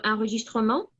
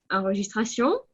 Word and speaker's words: enregistrement: On a déjà remarqué le mot enregistrement, mais je vais le répéter. Alors, ce n'est pas enregistration, comme on a dit, c'est l'enregistrement du masculin.